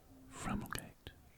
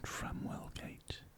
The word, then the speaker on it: Framwellgate: I'm sure they just dropped the W in Framwellgate, so it's spelled Framwellgate, and the locals over time would have just dropped the W and called it Framwellgate, just for ease of pronunciation.